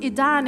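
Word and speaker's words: עידן: Later, I was told Aiden is pronounced Idan in Hebrew, representing a new era.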